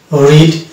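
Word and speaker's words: road: তারপরে চলে আসবো 2 নম্বর ফর্মুলা ও এ যদি পাশাপাশি থাকে তাহলে আমরা এ কে সাইলেন্ট পাই, যেমন গোট, ভোট, রোড, লোড, এখানে প্রত্যেক জায়গায় ও এ আছে এবং এক্ষেত্রে আমরা দেখতে পাচ্ছি এ সাইলেন্ট হচ্ছে।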